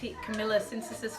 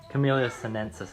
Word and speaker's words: Camellia sinensis: tea anything from that I'm gonna pronounce it wrong kamila censuses family can you please say the word show just close enough camellia sinensis I think they're on